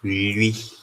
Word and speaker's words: lwi: to Tiap speaking people, no one actually pronounces it as Louis. So there's always a ya sound there to make it Louis.